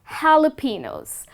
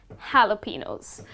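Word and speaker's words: jalapeño: you are mispronouncing it it is not jalapenos well the correct way to pronounce this word is jalapenos so which means the letter j you're not gonna pronounce it in fact it's gonna turn it to the letter h okay so it's gonna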